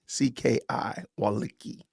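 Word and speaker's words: Wolicki: His name is, I don't know how to pronounce this. P-E-S-A-C-H W-O-L-I-C-K-I, Walicki.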